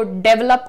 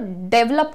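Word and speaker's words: develop: डेवलप करने की जरूरत, डेवलप कुछ नहीं होता है। जो प्रोनाउंसिएशन है, ध्यान से देखिएगा, यहां पर आपको कहना है डिवेलप, D well up, डिवेलप।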